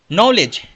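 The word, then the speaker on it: knowledge: Next word है नॉलेज यानी नॉलेज ज्ञान होता है, जानकारियां होता है। ध्यान रखिएगा बच्चों इसमें के साइलेंट होता है।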